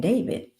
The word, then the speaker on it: D4vd: by a man named David. It's not the normal name David. He don't spell it like D- A V I D. No, he spell it D4 D.